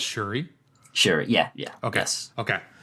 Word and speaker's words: Syuri: Just to make sure I got it right, and before we get a few comments saying you pronounced it wrong, it's Syuri.